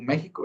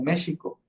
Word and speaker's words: México: lo pronunciamos, sino que se pronunciaba como una sh. O sea, por ejemplo, si en aquel entonces hubieran utilizado el nombre de México, no lo hubieran pronunciado como México, lo hubieran pronunciado como México.